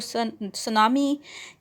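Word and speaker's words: tsunami: word है right so यह जो सुनामी की स्पेलिंग आप देख लीजिएगा इसकी टी साइलेंट होती है और यह कुछ जो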